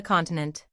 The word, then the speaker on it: continent: took place on the continent he pronounced the last truly admirable word with the accent on the last syllable not as unaware of